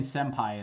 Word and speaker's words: senpai: n kana and again senpai is probably the most obvious example right um yeah i never really thought about it until i've always pronounced it with the m but i never really thought about why i'm doing that um yeah it's never occurred to me so yay it was